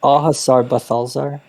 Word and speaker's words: Au Hasard: the how do you say um it's it's ahasar okay Hazard Balthazar just call it buffaloes there